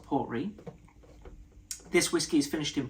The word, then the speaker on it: Port Ruighe: We have the Port Ruighe, I believe it's pronounced the Port Ruighe.